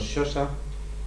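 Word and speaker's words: Xhosa: sí tengo aquí cosas son los shos se escribe xh o s próximos a los tulu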